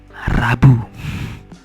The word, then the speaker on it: Rabu: And then the third word, Rabu. So the R must be in the R position, maybe sound as R, the rolling R. So ra. It's like the Spanish R, so it must be very clear that you pronounce R. So Rabu.